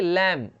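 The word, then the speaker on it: lamb: वैसे ही लैम, लैम बी का जो है साइलेंट रहता है तो ये हो जाएगा लैम। लैम का मतलब मेमना।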